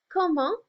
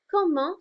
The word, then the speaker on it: comment: Comment is how. Comment. So remember, we frequently have some silent letters in French. So, it looks like comment in English, but it's comment.